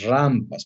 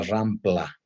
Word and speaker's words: rampa: a los de las rampas por favor mis estudiantes se pronuncia rampa no existe la palabra rampla aunque hay un equipo